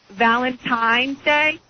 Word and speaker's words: Valentine's Day: Valentine's Day is how it's supposed to be said. and people replace the N with an M.